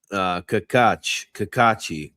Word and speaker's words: Cacace: It's proper Italian, Brett. Cacace. This Cacacho. Cacace. That's what Alphonse John Joseph is saying.